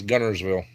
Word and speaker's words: Guntersville: Chuck Norris, my uncle lived in Gunnersville, and it's spelled the way you said right there, Gunnersville. That's why everybody says it. It's spelled Guntersville with a T, but everybody says Gunnersville.